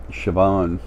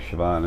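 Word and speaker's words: Siobhan: plenty but Paul and B already are um sioban her name is spelled s i o b h n but it's pronounced like sioban in Ireland in a tongue over there I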